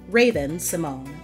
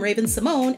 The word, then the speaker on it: Raven-Symoné: classic Disney Channel intro, where she says her name the way we've known it to be. The whole time, I'm Raven-Symoné and you're watching Disney Channel. You could have said it right, cause how they gonna make you say your own name wrong?